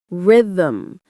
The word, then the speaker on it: rhythm: Rhythm. It has no vowels. Say rhythm.